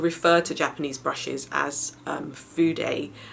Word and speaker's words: fude: Well, a lot of people refer to Japanese brushes as fude. It's spelled F-U-D-E, and fude means a Japanese brushes, basically a brush.